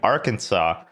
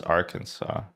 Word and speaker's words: Arkansas: I think we live in my home state of Arkansas. Why is it called Arkansas, but it's spelled R Kansas?